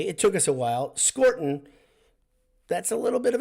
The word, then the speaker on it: Scourton: His name wasn't even Scourton to us until this year, so we did a pretty good job. Calling him Scourton, which is the correct grammatical pronunciation, is okay. It took us a while. Scourton, that's a little bit of a tester.